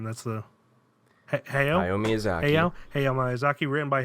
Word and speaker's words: Hayao: how do you pronounce the first name? That's the Hayao Miyazaki.